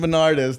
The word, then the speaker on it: Bernardez: So here we are, my guy, Justin Bernardez.